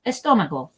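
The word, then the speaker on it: estómago: just gonna do estomable see where the accent is on the o that part gets the most the most emphasis estomable estomable now we can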